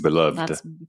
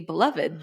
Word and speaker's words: beloved: I was like, it seems weird they'd be beloved, but beloved makes more sense. Yeah. And the funny thing is they're spelled the same. They are still the same. It's all, you put the emphasis on the wrong syllable.